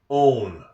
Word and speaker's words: own: Same combinations of letters can make different sounds in English. one own that's English. It's mostly memorization.